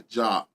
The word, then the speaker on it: Diop: You know, so when I'm saying check out the job for individuals, it is spelled DIOP, but in French, DI is job.